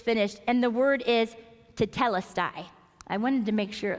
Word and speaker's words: tetelestai: There is a Greek translation for it is finished, and the word is tetelestai. I wanted to make sure that I pronounced that correctly.